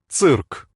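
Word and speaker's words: цирк: this one out Cirque we say circus with an S sound but Russian interprets it as a TS sound Cirque can you guess what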